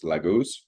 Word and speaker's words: laguz: Um but the protogerermanic pronunciation of this symbol was laguz and old Norse.